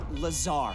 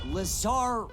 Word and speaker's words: Lazar: and its sales liaison it's lazar actually accent on the tsar but yes i'm your